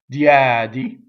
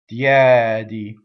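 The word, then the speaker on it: diedi: Diɛdi, single D. Right? How we make a mistake? Diɛdi, right? Make two D's. Diɛdi.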